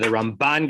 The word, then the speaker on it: Ramban: That the Ramban gets the stress on the second syllable, and the Rambam gets the stress on the first syllable, so that you're not making a confusion.